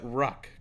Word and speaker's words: Ruck: So Angela, you pronounce that Ruck, correct? Yeah, Angela Rock.